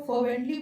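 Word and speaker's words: fervently: if Indeed ही फर्वेंटली मतलब होता है, इसमें जो इसको आप फर्वेंटली पढ़ते हैं, इसमें आर जो होता है साइलेंट होता है, फर्वेंटली मतलब होता है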